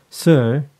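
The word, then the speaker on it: Suhr: I always call it sure s u HR and when I Google it there's two pronunciation British pronunciation which is Sir and then the American pronunciation which is s so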